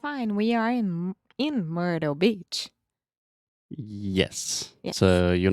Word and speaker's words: Myrtle: And technically, I would say this is a flap T. So we have 3 different T sounds in English. And I'm normally not saying Myrtle Beach. I say Myrtle Beach.